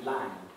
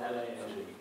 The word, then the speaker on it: long: So the words like long, for instance, in the north of England, used to be lang, as if it was spelled L-A-N-G. So long is pronounced as lang in the far north, or was.